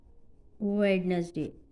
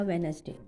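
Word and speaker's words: Wednesday: और today day इज़ वेडनेसडे, ठीक है जी। वेडनेसडे या वेनसडे दोनों प्रोनाउंसिएशन हो सकती हैं।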